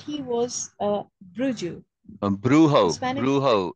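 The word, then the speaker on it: brujo: was a bruu bruh bro in Spanish the J is pronounced as an H okay was the Bro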